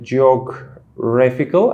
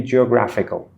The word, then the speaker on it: geographical: this online communication thing, you said something like geographical, I guess. Yes. But I think it should be geographical. So you mispronounced a. It had to be a.